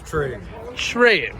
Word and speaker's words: Tregre: My last name's Trigg. Trey. Okay. Trigg. Trey. Yeah. I love you, dude. Oh, for sure. Everybody has trouble that's not from the area. It's pronounced many different ways, but mine's the original.